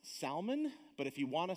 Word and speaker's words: Salmon: contains ruth it says now this word is pronounced salman but if you want to say salmon i'm not going to say anything about it